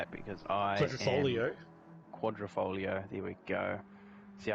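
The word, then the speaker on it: Quadrifoglio: Quadrifolio, there we go. See, Just the G throws you. You don't really need to pronounce it as a G. Yeah. So pretend it's not there.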